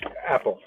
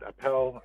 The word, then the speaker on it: Appel: It means, and it is not pronounced apple. It means something closer to like think appellation or appeal. And so you should pronounce it Appel, and you should not think of apple the fruit. You should think of appeal, but in kind of a more macho fashion.